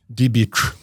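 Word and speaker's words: Diebitsch: It says Dybitch. Diebitch. There you go. Well, there's an S in there as well. Bitch. Dibitch. Great name. That was her maiden name. Josephine Dybitch.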